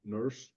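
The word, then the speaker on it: Nourse: So I never know, it's spelled Norse, but they oftentimes pronounce it nurse. So either one, I suppose, works.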